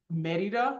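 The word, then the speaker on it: Medellín: you who don't know I live in medida mexic me and it's that's how you say it in Spanish if you say it in English you say am right so I live in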